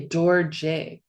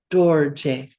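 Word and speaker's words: རྡོ་རྗེ: O but we say door J because these two words come together this R prefix uh when we put the two words together we pronounce that R prefix dorj diamond lord of stones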